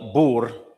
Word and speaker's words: Boer: This is the exact argument of the Boer, and I'm pronouncing it properly.